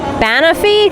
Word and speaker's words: banoffee: I think Banoffee, because it's banana and toffee combined. That sounds amazing to me. So it's a Banoffee tart.